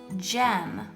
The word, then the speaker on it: gem: But soft G sounds like j, It's like the letter J. So again, that soft G sound is J. And our first word that has a soft G sound is gem.